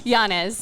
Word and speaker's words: Llanes: Llanes. Melanie. So the 2 L's make the Y.